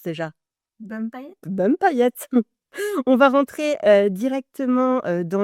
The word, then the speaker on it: Bum'Paillette: expliquez-moi un petit peu dites-moi comment ça se prononce déjà BM paillette bum paillette on va rentrer directement dans le dans le